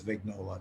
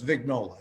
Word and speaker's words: Vignola: But even my family says Vignola now. So, oh, wow. Yeah. So it's Vignola is the last They've become Americanized, huh? Yeah. It's not any less syllables to say it right.